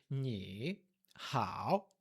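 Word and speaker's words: 你好: Quando você tem duas palavras de terceiro tom ou duas sílabas de terceiro tom, uma seguida da outra, você junta e a primeira palavra muda para o segundo tom e depois terceiro tom.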